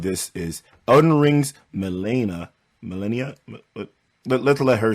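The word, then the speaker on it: Malenia: the title of this is Oden Rings Melena melenia let's let her say her name right I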